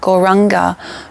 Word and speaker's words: Gauranga: going to then add the yoga sound gau ra anga gauranga broken up into four syllables all we have to